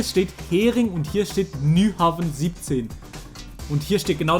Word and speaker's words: Nyhavn: Und Niehaven. Yes, baby. Wir haben's. Und wir sind da. Niehaven, Kopenhagen. Okay, wir gehen jetzt nach Kopenhagen. Und ich denke, Nyhavn. Okay, Nyhavn wird das ausgesprochen.